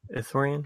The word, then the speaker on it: Ithorian: how you pronounce it athough rien yes corinne Ithorian yeah I don't think pronunciation really matters and stars that I never